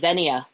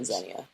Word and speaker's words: xenia: Zenia. Yes. Zenia. If I'm saying it right, it's X E N I A. I'm saying Zenya.